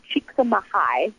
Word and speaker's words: Csikszentmihalyi: His last name is pronounced Csikszentmihalyi.